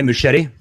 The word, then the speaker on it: Muschietti: Can you pronounce it? Andre Muschietti.